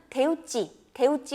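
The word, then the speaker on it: 手打ち: 바로 일본어로는 대우찌 우동이라고 읽는 건데요.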